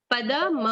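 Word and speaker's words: पदम्: जैसे आखिरी है गच्छन्त मूढ़ा पदम व्ययम तत्। पदम पूरा म, पदम व्ययम तत्।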